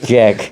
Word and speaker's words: Czech: Jack. He pronounces it very Jack. clearly. Jack Republic. Jack. Not Czech.